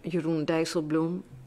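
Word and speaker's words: Jeroen Dijsselbloem: on Thursday afternoon is the Dutch Finance Minister yurun dael Blum note the pronunciation of this name yurun Dum um to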